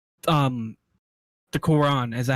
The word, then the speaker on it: Quran: solid religion it would literally like um the quran is that how you pronounce it yes i i just love the